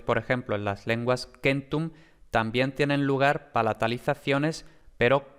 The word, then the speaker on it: centum: Aquí tenemos que en latín, precisamente lo que habíamos dicho, se ha producido una vocal de apoyo entre la K y la M, porque era lógicamente muy difícil pronunciar Kmtom, ¿no? Muy difícil. Entonces, aquí entre la K y la M se ha metido una vocal, la E concretamente, y por eso tenemos Kentum.